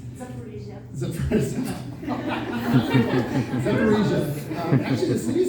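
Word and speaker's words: Zaporizhzhia: They have a sister city in Ukraine, and I forget how to pronounce it, something like Zidofor or something. It's Zaporizhia.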